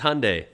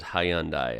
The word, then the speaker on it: Hyundai: pronounce it as hyundai americans make it like two syllables like hyundai australians three syllables hyundai well yeah some americans